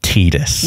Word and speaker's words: Tidus: It is officially pronounced Tidus.